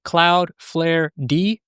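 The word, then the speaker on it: cloudflared: I'm gonna add a cloud flare d or cloud flared if you want to pronounce it that way.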